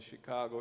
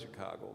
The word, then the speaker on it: Chicago: from the Chicago area, which actually is a mispronunciation of the native word, which is Zhigagon, Zhikagong. That's English letters, you see. But the natives didn't use English letters. So we approximate. Chicago sounds something like it.